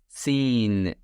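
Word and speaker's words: سين: Z seen. S sound in English.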